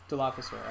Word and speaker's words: Dilophosaur: Dilophosaur, is that how you pronounced it? Dilophosaur.